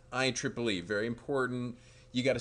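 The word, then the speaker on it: IEEE: friends at at I Triple E and it's pronounced I Triple E by the way that's something may you might not have known when you see it it's not IEE II it's I Triple E very important you got to sound like you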